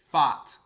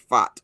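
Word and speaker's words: Pfaadt: Fought Fott. Okay, there we like go. Fought. There we go. Yeah. Brandon Fott. Okay, now The P is this silent. the P is silent.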